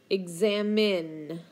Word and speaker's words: examine: we can see that examine starts with a short e it has an X and then it's got a silent e at the end examine okay when you examine something